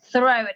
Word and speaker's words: throat: Throat, ini cara ngomong throat-nya lidahnya agak digigit.